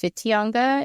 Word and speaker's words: Whitianga: Whitianga. It actually started with the WWHITINGA, but it's pronounced Whitianga in the Maori language.